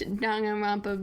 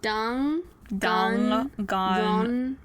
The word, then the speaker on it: Danganronpa: Danganronpa. Danganronpa. So in Japanese, N is a syllable. Yeah. So Danganronpa.